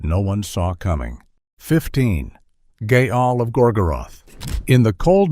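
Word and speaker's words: Gaahl: One of the most famous and intimidating figures from this scene is a singer who goes by the name Gaal, pronounced Gaal.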